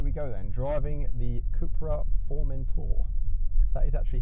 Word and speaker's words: CUPRA Formentor: So here we go then, driving the CUPRA Formentor. That is actually how it's pronounced, by the way.